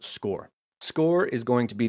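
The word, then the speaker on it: Scoir: create your score account that's s-c-o-i-r it's pronounced score score is going to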